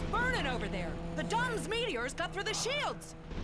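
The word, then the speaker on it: DomZ: The Dom's meteors got through the shields. Okay, so he is pronounced doms.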